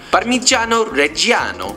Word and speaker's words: Parmigiano Reggiano: Parmigiano Reggiano. Bravo. Parmigiano Reggiano. Bravo. Is the best option. Like that pronunciation, by the way, Italians? Can we get a rating, please? Yay, well done. Fantastic pronunciation. Parmigiano Reggiano.